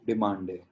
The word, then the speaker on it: demandez: So, vous demandez. We do not pronounce the Z of this.